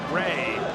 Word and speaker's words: Jui: and I know that that is spelled Chung Jui s but that is pronounced Ray I believe it that